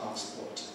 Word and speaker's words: passport: Where does it come in English? On the pass. Passport. Or American pass. Passport. But still on that first syllable.